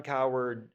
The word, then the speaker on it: Coward: Coward, yeah, Oh, I thought I was saying the guy on Fox Sports. Okay, sorry. Um, It's anyways, coward, just like someone who's scared. It's coward.